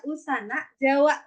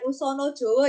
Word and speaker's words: Usana Jawa: ini naskah usana Jawa saya bacanya usana Jawa bukan usono Jowo ya guys berarti kalau